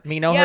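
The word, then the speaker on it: Menoher: strip in Westmont called Monaco Boulevard. I was all excited. Knocker Boulevard, and nobody knows how to pronounce it from me who's know not from her. there. Me know her.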